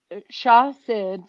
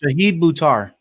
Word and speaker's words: Shahid Buttar: I'm going to say the name wrong. Shah Sid for Congress, who's Nancy Pelosi's Democratic progressive challenger. Shahid Buttar.